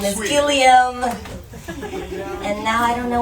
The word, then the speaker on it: Guillaume: I've known Guillaume for over a year, and I kept calling him Guillaume. And one day, Guillaume says to me, you've been saying my name wrong for a long time, and I never had the heart to tell you that it was wrong.